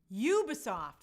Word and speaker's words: Ubisoft: to catch up to me you're still pooping ubisoft that's what it is thank you so this